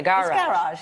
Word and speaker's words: garage: There's a lot of time spent on the first syllable. The garage. It's garage.